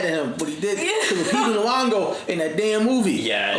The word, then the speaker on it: Lupita Nyong'o: Because I haven't really seen sorry, how do you pronounce her name? Lupita Nyong'o.